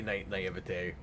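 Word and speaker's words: naïveté: I don't think that's how to pronounce that. Yeah, no, that's how you say naivete.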